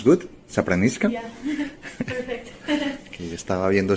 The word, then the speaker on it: Sapramiška: ¿Do I pronounce good? Zapranishka.